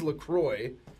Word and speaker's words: LaCroix: look it up and I realize that rhymes with enjoy that's there that's the company says so it is wrong joy it is Lacroix I don't see but